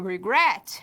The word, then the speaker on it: regret: No caso, a primeira sílaba não é tônica, somente a última. Então, quando ele termina em consoante, vogal, consoante, e essa sílaba, essa última sílaba é a tônica, nós dobramos.